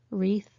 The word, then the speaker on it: wreath: long argument wrong wrist wreath a circular shape of flowers or plants often for a funeral or Christmas decoration Ren a type of bird wrath anger these are all silent w words be careful with these